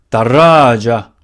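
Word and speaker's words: دراجة: 다라자. 다라자. 이것도 원래 다라자 툰이 돼야 되는데 이것도 툰 여성명사 타마로부터 붙거든요. 툰 뺐습니다. 발음 편하게 하려고.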